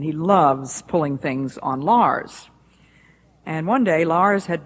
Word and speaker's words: Lars: that his name is l a RS that's a hopelessly difficult name for most people unless they're Scandinavian in background but his first name is Lars rhymes with stars his last name is